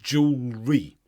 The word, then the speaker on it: jewelry: jewelry there's no l in there it's just jewelry this is probably because the British spelling is